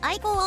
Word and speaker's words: ikko: これはアイコーって読んでね。アイコーオーディオね。